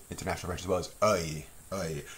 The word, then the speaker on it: œil: French as well, is œil, œil. It's like and E put together and becomes œil. And it's spelled with an E-U-I-L.